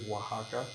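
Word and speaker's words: Oaxaca: to to pronounce the city of Wajaka because it's spelled O A X A C A wax sure that Savoc's got many of those.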